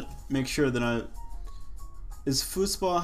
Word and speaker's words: Fußball: I didn't mean to, but I want to say that that's how they say it in German. Fußball.